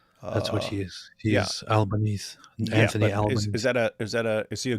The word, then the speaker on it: Albanese: And then, but you have to pronounce it Albanese like an Italian.